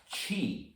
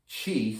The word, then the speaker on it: Qi: Today I chose Qi and OCD. And it'll include a little Qigong movement at the end for you to try out. Qi, spelled Qi, is the animating energy of life.